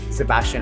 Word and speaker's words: Szebastian: media using my name sebastian on a and sebastian begins with a silent s and a very loud scene it is however requested